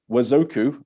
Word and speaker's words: Wazoku: So Wazoku, as it is pronounced, it's a concatenation of two Swahili words.